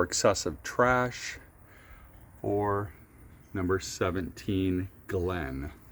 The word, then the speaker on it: Glyn: I'm at number 17 Glenn Drive and that Glenn is spelled G L Y N Drive in Florescent, Missouri.